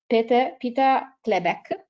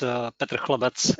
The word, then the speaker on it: Petr Chlebec: Municipal Museum of Bladna, Peter Klebek. I hope my pronounce again is not so bad. So Peter, please. Thank you. Yeah, my name is very hard. It's Petr Chlebec. It's like Peter Broad, and it's all, but it doesn't matter.